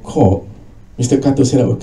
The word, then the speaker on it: Korg: So that's Korg, Q-R-G. Please pronounce it carefully, Korg.